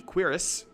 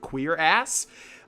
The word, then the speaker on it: cuirass: We'll equip that, and we'll equip the cuirass. There was a joke in the last Oblivion Let's Play where I was like, how do you pronounce it? Is it queer ass? No, it's cuirass, if I'm correct.